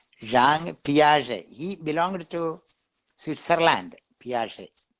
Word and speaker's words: Jean Piaget: That is the correct pronunciation. JEAN. It is a French name. Jean Piaget.